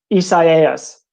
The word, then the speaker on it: Isaias: Let me say it first. Then I can. Isaiah? Is that it? So that's kind of what I thought at first too. And then we got the pronouncer, someone from the National Weather Service in Florida sent us a pronouncer. And I could be totally butchering this too. Isaias. I think I said that right.